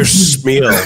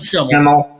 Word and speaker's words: Schimmel: I just realized I butchered your name. I don't know why I call you Schmiel for some reason. Schmiel. My bad, man. It's no problem, brother. Everyone mispronounces it. Yeah, but Schimmel.